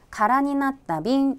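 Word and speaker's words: 空き瓶: 병이긴 한데 , " 카라빈 " 은 빈 병 을 뜻해 요 . 다시 말 해 , 빈 용기 입니다 . " 카라빈 " 이라 고 발음 한다는 것 을 꼭 외우세요 .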